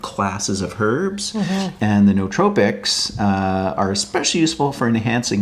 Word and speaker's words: nootropic: Word of the day is I've always been pronouncing it as nootropic because that's how it's spelled, but I've just learned it's nootropic.